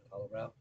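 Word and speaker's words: Hellbraun: That's how you pronounce it, Hollowbrow.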